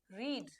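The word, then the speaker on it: read: important है change करना जब v1 फॉर्म में बोलते हैं तो रीड बोलते हैं जब v2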